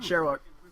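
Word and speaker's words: Shyriiwook: Sherwook. Or Shrewook or whatever. Well, it's spelled weird, but it's called Sherwook.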